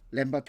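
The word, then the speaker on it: foot-lambert: 이것 은 " 풋램버트 " 라고 읽습니다 .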